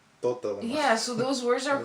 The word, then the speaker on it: totalement: No, we pronounce the T.